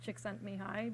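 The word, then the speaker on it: Csikszentmihalyi: guy whose name is roughly pronounced chick sent me high but I'm not good at that um anyway he has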